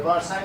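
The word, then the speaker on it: Versailles: वारसाय का स्पेलिंग बताओ जरा। वर्सलीज। अच्छा वर्सलीज को ही वारसाय बोल रहे हैं ना।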